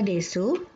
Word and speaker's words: desu: dengan yang panjang Hai untuk kata desu arimasu gozaimasu huruf Uti tidak diucapkan jadi decu berbunyi Des arimasu berbunyi Arema gozaimasu